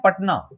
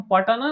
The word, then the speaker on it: पटना: इसलिए हो रहा है क्योंकि हम पटना नहीं कहते हम पटना कहते हैं यानी टी के साथ वाले ए का उच्चारण नहीं होता और चूंकि तब के